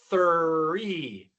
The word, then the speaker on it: three: Y entonces tenemos tree y three. There are three trees in my yard. There are three trees in my yard. En esta oración pueden escuchar la diferencia. Para tres se escucha th y para árbol se escucha ch.